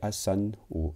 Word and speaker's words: asanas: Ça, c'est les plus connus, les asanas, donc on prononce pas de la dernière A.